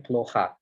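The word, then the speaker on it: плохо: Nah, kata yang kedua itu ploha. Ini huruf O-nya juga sama kayak haroshi ini nggak ada di akhir. Teman-teman langsung lihat aja huruf O yang kedua di sini. Yang nggak kena stres. Dia jadi dibacanya jadi huruf A. Jadinya ploha.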